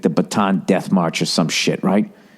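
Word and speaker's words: Bataan: even said it wrong they say baton like what you twirl the Baton Death March it was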